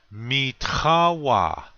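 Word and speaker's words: mitȟáwa: next word meet hawa accent on the second syllable this means mine or my this word has a guttural t it has that sound your mouth starts to make the normal t sound like but right after it it's like a really rough sound so it's me repeat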